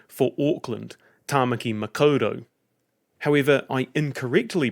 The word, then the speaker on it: Tāmaki Makaurau: Last episode I mentioned the Te Reo Māori name for Auckland, Tāmaki Makaurau. However, I incorrectly pronounced it Tāmaki Makaurau.